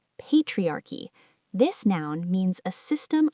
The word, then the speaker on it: patriarchy: AFFECTS BOTH MEN AND WOMEN THOUGH DIFFERENTLY IT'S PRONOUNCED PATRIARCHY THE ADJECTIVE IS PATRIARCHAL THIS IS A SOCIOLOGICAL